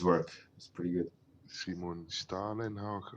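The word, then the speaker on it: Stålenhag: Simon Stalenhag, or how is it pronounced? Stolen Hog. Stalenhag.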